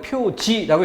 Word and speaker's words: 표지: 그래서 교통 표지판이라고 표지라고 읽는 거지 표식판이라고 읽는 게 아니죠.